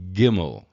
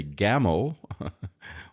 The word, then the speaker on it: gimmel: But the word camel, of course, starts with C, and this is a G sound. So if you can think of it as a gamel or a gamal, then you can still get the G out of it.